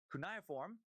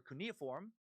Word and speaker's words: cuneiform: stop your emails it's most often pronounced uh kunai form or cuneiform but that's that's more of a british pronunciation i'm dumbing it down